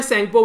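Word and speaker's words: Tsangpo: T silent होता है, सेंगपो बोल देते हैं।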